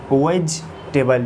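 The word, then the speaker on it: vegetable: और वेजिटेबल, जैसे इससे पहले वीडियोस में बताया गया था कि मैं जी के बाद जो ई होता है वो होता है साइलेंट, और इसको पढ़ेंगे वेजिटेबल।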